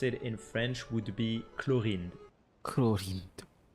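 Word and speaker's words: Clorinde: And the way we pronounce it in French would be Chlorinde.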